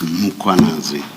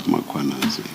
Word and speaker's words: Mkhwanazi: The a is after the h. So it's muanazi, not muanazi.